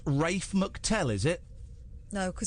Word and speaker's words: Ralph: not no it's not it's spelled r a l p Ralph Ralph so so it's Rafe mctell is it no